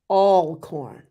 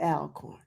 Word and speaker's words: Alcorn: And just one correction, Mark, Alcorn, not Alcorn. All. I'm sorry. That's why you look like that. I done had the facts wrong. I had the pronunciation wrong, y'all.